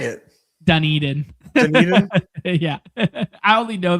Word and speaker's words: Dunedin: Dunedin. Dunedin. Yeah, I only know that because the Jays. I'm a fan of the. I'm a fan of the books. So, yeah, okay. we're calling it Dunedin.